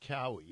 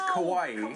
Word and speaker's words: Kauai: off the coast of Kauai. Kauai. The nightmare started when a massive wave hit the boat. All 3 were thrown in the water. She thought it was pronounced Cowie. No.